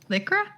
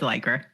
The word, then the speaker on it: Lycra: were talking about uh lycra liquor liquor did i say it wrong no it's like her okay listen i have